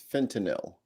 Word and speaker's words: fentanyl: a correction already yeah pretty sure it's fentanyl all right I mispronounce things that's my thing I'm pretty sure I'm double checking the pronunciation all right so yeah it's nil that's a lot of